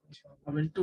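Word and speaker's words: Ubuntu: क्योंकि थोड़ा सा बोलने में अबंटू उसको बोलते हैं, अबंटू बहुत लोग अबंटू बोलते हैं, बहुत लोग अबंटू बोलते हैं, बहुत लोग उबंटू बोलते हैं, ठीक है।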